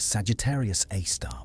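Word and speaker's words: Sagittarius A*: We call it Sagittarius AAR or SG A star for short, pronounced Sagittarius A star by astronomers.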